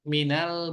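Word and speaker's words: مِنَ: jarnya Min artinya dari Min dari diakhiri dengan sukun ketika bertemu dengan alif lam ini dibaca karena darurat dibacanya dengan fathah Minal Baiti ya albaitu menjadi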